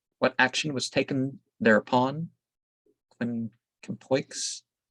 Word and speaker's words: Quincampoix: Quincampoix. I think you don't pronounce the X.